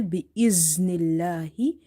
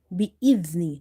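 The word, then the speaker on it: بِإِذْنِ: Now you have to avoid the za pronunciation here, because if you say bi'iznillahi and if you don't control your tongue, then the letter will be pronounced like za. So in order to pronounce dhal correctly, you have to touch the tip of your tongue with the inner edges of your top 2 front teeth.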